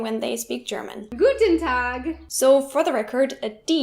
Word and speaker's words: Tag: Another problem really similar to this is that German words ending with G are normally pronounced as if there was a K, making it Tag instead of Tag.